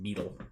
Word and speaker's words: Bedell: It's actually pronounced Beetle. They called him Beetle. It's spelled Bedell. So, it's spelled Bedell. Mm-hmm. In the South, we say Bedell.